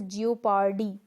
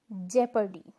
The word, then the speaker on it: jeopardy: a select a kit this should be pronounced as geo Pardee but this is incorrect or wrong and this seems very like flaws ke kya Ora the correct one is in jeopardy in jeopardy Lepke coach is your